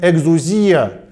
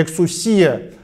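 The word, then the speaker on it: ἐξουσία: Очень важно помнить, что здесь стоит греческий термин «экзузия», или в другом произношении «эксусия», термин, который означало в древнегреческой культуре лицензию для деятельности, возможность что-либо сделать.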